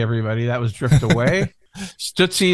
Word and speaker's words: Stootsie: that was Drift Away stuttsy is spelled like Tootsie but with an s in the front yes the tootsie roll